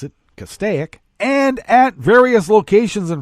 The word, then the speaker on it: Castaic: that was in cas castaic that's how we pronounce it castaic and at various locations in fresno county in